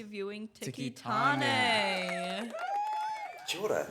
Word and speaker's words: Tiki Taane: was perfect timing and pronunciation on the name, by the way. I really enjoyed that. Thank you. It's Tiki Taane, so well done.